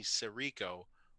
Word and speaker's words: Sirico: Sorry, I think I'm mispronouncing it. It's Sirico, right?